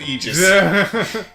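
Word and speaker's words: Aegis: it other ways but I will pronounce it Eis I mean I honestly would have always assumed AIS that's what I would think AIS which something I would not have assumed that a was silent but after playing enough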